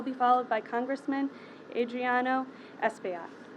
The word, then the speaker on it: Espaillat: I will be followed by Congressman Adriano Espaillat. Pronounced that right.